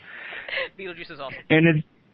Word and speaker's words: Betelgeuse: And it also is conjunct, that is, with the fixed star, I'm going to call it Betelgeuse. It has a more fancy pronunciation, but astrologers call it Betelgeuse. Betelgeuse is awesome.